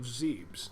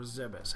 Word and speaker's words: Zebes: eradicate the problems of zebs or zebes however you want to pronounce it have a good one